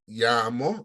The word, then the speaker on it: llamo: you will need to pronounce the double L as in the word llamo, me llamo, or sometimes they say me llamo.